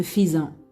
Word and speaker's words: faisant: Malgré AI, mais on dit ne faisant. On ne peut pas prononcer ne faisant.